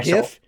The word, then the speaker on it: GIF: That's the correct pronunciation for both.